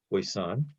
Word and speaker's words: poisson: poisson distribution it's spell it's a french word p-o-i-s-s-o-n hopefully i pronounce it correctly voice-on and this is a